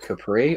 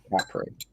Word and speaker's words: Capri: It's would you call it a Ford Capri or a Ford Capri? I would call it a Capri. But it's spelled. Oh dear. It is spelled the same. Oh Yeah. dear. Yeah, so that's where I'm a bit like, But I think it's just the way that everybody says it around here.